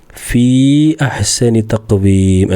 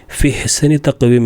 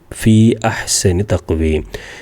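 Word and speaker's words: فِي أَحْسَنِ تَقْوِيمٍ: പിന്നെ ഫീ അഹ്സനി തഖ്വീം എന്നാണ്. ഫിഹ്സനി തഖ്വീം എന്ന് പറയൂല. കാരണം ചേർത്തി ഓതുമ്പോഴും ഉച്ചാരണത്തിൽ വരും ഫീ അഹ്സനി തഖ്വീം.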